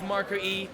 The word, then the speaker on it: MiCroE: going to see if MiCroE can go even further in this game too. I believe it's pronounced Micro, by the way, according to the chat.